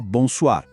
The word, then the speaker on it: bonsoir: E a pronúncia? Bem parecida. A primeira parte é aquele bom nasal que a gente já conhece. Bom. A segunda parte, soir, tem o tal do R francês que às vezes assusta, mas é só